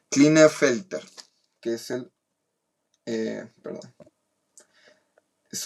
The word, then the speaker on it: Klinefelter: en el par sexual, y tenemos Klinefelter, lo pronuncié bien, sí, Klinefelter, que es un cromosoma extra en el par sexual en mujeres, pero ya no es XXX, sino que es XXY.